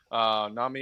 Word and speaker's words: NAMI: with the soft A from the It's NAMI.